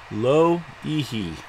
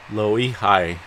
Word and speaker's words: Loihi: and this system Luigi I looked up that pronunciation lo hee hee yes I did otherwise I was gonna pronounce it like low e high or something like that so anyway I looked